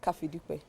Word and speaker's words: Kafidipe: We have Kafidipe. Did I pronounce that well? Yes. I did. You did. I did not try. I did not. Pronounce it. Kafidipe.